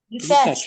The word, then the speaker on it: detached: Which one is the stressed one? Is it detached or detached? Detached or detached? Detached. Detached. Detached. The stressed the syllable here is the second one.